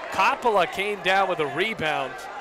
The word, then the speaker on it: Coppola: game and I was assured it is Coppola not Coppola like Francis Ford Coppola who directed the Godfather but Coppola the redshirt freshman from blue